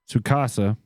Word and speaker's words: Tsukasa: Shinobu, oh Lord God, Shinobu Tsukasa. I'm gonna go with the T is silent, like tsunami. Okay. So it's Shinobu Tsukasa, who was born with